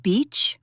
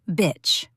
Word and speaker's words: beach: Did you say it like beach or bitch? If you said the second one, don't panic, but we need to talk.